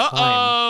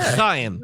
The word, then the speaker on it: Haim: Fun fact: I thought they were called Haim. So did I, but it's pronounced Haim. Oh, okay. Not Chaim. Not Chaim.